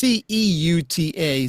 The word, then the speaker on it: Ceuta: Because But I anyway, looked it up and it's went, you pronounce that like that? well, it's Ceuta, so maybe that's Yeah, it.